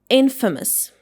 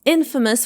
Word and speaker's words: infamous: And it should be pronounced like infamous. Infamous. And it means being famous for something bad. Like he's infamous for always being late to meetings.